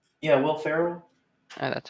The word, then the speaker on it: Will Ferrell: of ricky bobby step brother i don't know will pharrell yeah will ferrell uh that's how you say his name oh